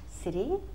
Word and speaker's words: city: our last class, we talked about city, country, and town.